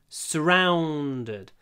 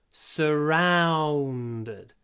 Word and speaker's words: surrounded: are surrounded by enemies this middle syllable round your lips really need to work when you pronounce it r w w w rounded surrounded don't rush pronounce it slowly surround rounded surrounded surrounded by enemies I